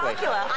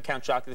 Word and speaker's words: Count Chocula: I insist that people pronounce characters from cereal boxes correctly. Count Chocula.